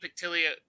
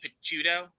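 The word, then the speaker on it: Picciotto: Like, because Guy Pictilia, I always say his name wrong. I always want to call him Guy Pictilia, but he's Guy Picciuto.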